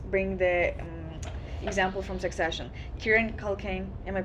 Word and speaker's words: Kieran: Kieran Culkin, am I pronouncing his name right? Yeah, Kieran.